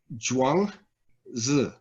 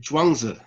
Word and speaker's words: Zhuangzi: So the name, how you pronounce it is Zhuangzi, right? Zhuangzi, right? And yeah, and this version Zhuangzi, not that ZH would ever be associated with J in English, but Zhuangzi.